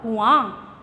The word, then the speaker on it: कुआं: इसके शुद्ध रूप में अ के ऊपर चंद्र बिंदु आती है और इसका उच्चारण होगा कुआं।